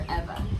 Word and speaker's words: Ewa: It's still our favorite, and it's spelled EWA for Eva Seed. Yes, because Eva's a Hawaiian word.